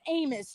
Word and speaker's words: Amos: And his name is Amos to rhyme with Samus.